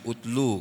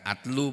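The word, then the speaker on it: اتْلُ: Ini membacanya utlu kalau dipisah. Bukan atlu, bukan itlu, utlu.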